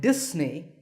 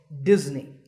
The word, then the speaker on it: Disney: you say this word if you said Disney that's the mistake the s in the middle is actually a sound as you can see in the pronunciation symbols on the screen so it's Disney remember that number five